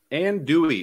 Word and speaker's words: andouille: Andouille is how you pronounce the sausage.